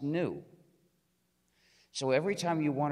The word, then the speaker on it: gnu: according to the dictionary the g is silent and it's pronounced new so every time you